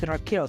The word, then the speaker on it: Rickelle: Is it Rickelle? That's how you pronounce it? Yeah, it's Rickelle.